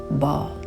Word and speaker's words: Baal: Baal is actually pronounced ball.